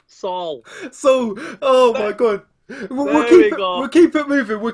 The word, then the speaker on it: Saul: joined by bellator featherweight sao rogers how's it going brother you just butchered my name again again so so right right right say paul pooh king the p to an s saul so oh my god